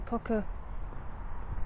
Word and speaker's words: cockatiel: I had a cockatiel, I think it's you pronounce it. I always say tail, but it's not. It's teal.